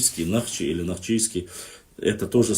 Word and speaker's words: Нахчи: И что касается Нахчи названия, это наше древнее название, и на горных диалектах правильно говорить более древнее название, это Нахчи через А. Современно, литературно, через О в основном происходит название.